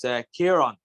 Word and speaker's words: Ciaran: So it's a Irish name. So it's Ciaran. So Ciaran. Yeah, Ciaran. Yeah, it's English would say Ciaran. It's spelled different, spelled with a K. But Irish, Ciaran, C-I-A-R-A for the N. It's an Irish name, so Ciaran.